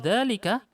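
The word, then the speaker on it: ذلك: Tuntaqu dzalika, kita ucapkannya panjang. Dzalika.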